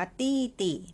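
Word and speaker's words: 弟弟: ไม่ ยาก นะ คะ อ่าน ว่า ตี้ ติ เป็น ตัว D นะ คะ ตัว ดี จะ ออก เสียง เตอ ค่ะ เออ แล้ว ก็ มา บวก กับ สระ ไอ ซึ่ง ออก เสียง E นะ คะ ใส่ วรรณยุกต์ เสียง ที่ 4 เข้า ไป ค่ะ ตัว ที่ 2 เป็น เสียง เบา ออก เสียงติ แค่ นี้ นะ คะ มี น้อง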